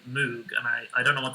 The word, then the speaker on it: Moog: anyway, A bunch of people in chat are saying Moog, and I don't know what that means. Can you explain? Moog or Moog, I guess, is the that's the official pronunciation of the guy's last name.